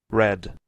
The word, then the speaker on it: red: red, try, Red, red, try. So you have to soften the R. Don't pronounce like Spanish. In Spanish, it's very strong. In English, we're going to mark it different.